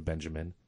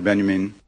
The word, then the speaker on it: Benjamin: tape Walter Benjamin Walter Benjamin Dube is German remember okay so I use an Americanized pronunciation obviously he's one of